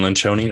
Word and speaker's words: Lencioni: and I love anything Lynn Shoney when Loren Lynch only right that's how you pronounce his name bencione rolls off the